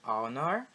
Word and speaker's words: honor: Então, an honor, uma honra, ou uma hora, an hour, ok? Então, inverte também. Tá vendo que honor e hour começam com H, mas esse H ele é mudo, ele é silent.